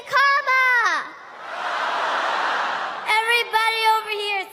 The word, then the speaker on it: Kamala: First, you say comma like a comma in a sentence. Then you say la like la la la la la. Put it together, and it's 1, 2, 3.